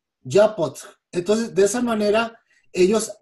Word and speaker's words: Yapxöt: Y en la lengua concac es con el estómago, Yapotl, es con el abdomen, Yapotl.